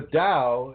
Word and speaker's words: Tao: plural in singular actually even though it's spelled t-a-u you pronounce it with it like a d-a-u uh the rim of the dao you just imagine sitting